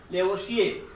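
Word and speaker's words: Lavoisier: Spelling पे थोड़ा सा ध्यान देंगे, यहाँ आर है, आर साइलेंट रहेगा। लेवोशिये, लेवोशिये पढ़ा जाता है, इन्हें फादर ऑफ मॉडर्न केमिस्ट्री कहते हैं।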